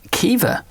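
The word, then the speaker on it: Caoimhe: I don't know um qua qua it is Kea Kea Okay C o i m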